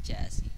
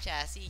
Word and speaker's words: chassis: Super Avante Junior Black Special VZ Chassis. Napakaganda nitong ano na to. Itong kit na to. Walang tapon. Ano, VZ Chassis siya. By the way, pronunciation ng chassis, chassis lang. Ah. Wala, silent S yun eh.